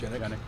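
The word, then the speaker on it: Genyk: Is it Gannick? Is that how it's pronounced? Gannick.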